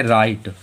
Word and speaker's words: write: WRITE में W जो है वो R के पहले आ रहा तो हम लोगों का W साइलेंट। इसे क्या पढ़ेंगे? राइट, क्या पढ़ेंगे?